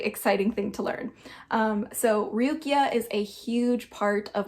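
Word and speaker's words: Ruqyah: Okay, so this is also tied into a practice called Ruqya. It's spelled R-U-Q-Y-A-H, and it is a critical study of mind, which is essentially healing through the Quranic verses.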